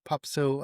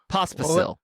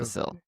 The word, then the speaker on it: Pospisil: that the PTPA, Djokovic and Popsil, I'm not pronouncing his name right, Popsil. I always Vashik, call him Popsicle. pop. I Yeah, know how to say it, and you yeah. took it from me. You stole the I did. the pronunciation from me. Well, Pospisil. thank you. Pospisil. You got it.